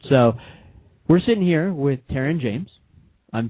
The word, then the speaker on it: Terron James: All right, so we're sitting here with Terron James. I'm pronouncing it correctly.